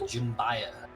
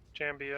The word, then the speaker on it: Jambia: The Jimbaya. That's one way to pronounce it. I have no idea how to pronounce it. Jimbia? Jambia. It's a Jambia. Jambia? That's how I heard Danny Trejo pronounce it when he was on Man at Arms.